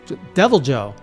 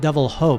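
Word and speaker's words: Deviljho: Devil Joe. Not Devil Ho, by the way. Not pronounced like the Spanish, but Devil Joe.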